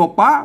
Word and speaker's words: ปี้: มา อัน บ่ ใช่ อ่าน ว่า พี่ นะ ครับ อ่าน ว่า ปี้ นะ ครับอ่า เห็น มั้ย อั้น เป็น ปอ ปลา นะ อ่าน ว่า ปี้ นะ เสี่ยง โทร ปกติ นะ ครับ มา เอา